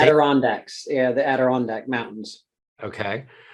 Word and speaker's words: Adirondacks: small town, and I know I'm going to mispronounce this. Adirondack, how do you say it? Adirondacks, yeah, the Adirondack Mountains.